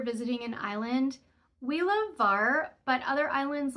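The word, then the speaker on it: Hvar: out to the islands VAR which is spelled HV v a r but pronounced without the H so just pronounced VAR is a wonderful day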